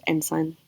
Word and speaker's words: ancient: So the most important word there to understand is ensign, which looks like the word ancient, pronounced ensign.